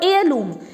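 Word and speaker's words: heirloom: और एयरलूम, एयरलूम होती है बच्चों विरासत, जो मैंने भी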